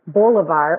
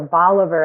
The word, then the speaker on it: Bolivar: sets of parents who names their sons Bulevar or Bolivar as they variously pronounced it after of course Shimon